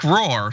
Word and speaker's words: Rohr: Rohr says, got my first Pfizer. P.S. You pronounced my last name right. No extra sound.